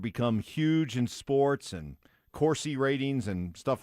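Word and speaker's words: Corsi: It's it's it's a it's How do you spell it? C O R Si. It has something to do with Corsy. I thought you said Cory.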